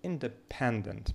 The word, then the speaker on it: independent: And the stress, independent, independent, independent. So independent, pendant is stressed.